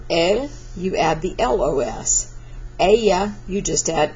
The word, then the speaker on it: ella: Double Y here means I'm going to pronounce that like a Y, double L, I said double Y. So ella is she.